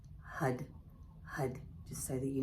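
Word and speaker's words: Har: to chant the Mantra HUD h-a-r which is pronounced with a d so it's HUD HUD HUD just so that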